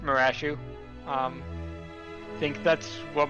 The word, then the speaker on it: Marashu: pronounce your name not bryce that is not how i would have pronounced bryce off for the record most people would say brace off i think i was going with like resolve that's also a pretty common one uh but no i i usually uh pronounce it marashu um i think that's